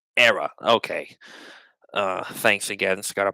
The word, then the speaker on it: Hera: Jedi left so um the H in Hera is silent it's era okay uh thanks again